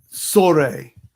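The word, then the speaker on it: צרי: as bomb in hebrew the word here is sore if you were to translate that t z e r dash e with the accent on the final letter sorry from this word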